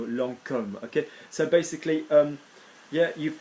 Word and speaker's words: Lancôme: There is an accent on the O, like in the word that people say, oh, Lancôme, no, Lancôme.